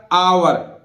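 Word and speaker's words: hour: इसी तरह देखिए एच ओ यू आर, तो एच यहां भी नहीं बोलिएगा, आवर। अब इसको उच्चारण ओ यू आर, जैसे हम अवर बोलते हैं ना, ऐसे मत कर देना, ये आवर, आवर माने घंटा, हावर नहीं बोलेगा।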